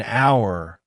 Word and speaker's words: hour: It's a university because it starts with a Y sound but an hour because the H is silent.